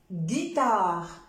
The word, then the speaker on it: guitare: Avec GU, guitare. Guitare, si j'enlève le U, ça va donner guitare. Alors, pour éviter de prononcer je dois mettre le U.